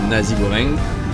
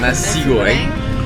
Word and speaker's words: nasi goreng: à manger un petit nasi goreng. Nasi, on va dire nasi, hein, pour éviter les merdes avec le cul, c'est nasi goreng. Mais ça se prononce comme le mot qu'on doit pas dire.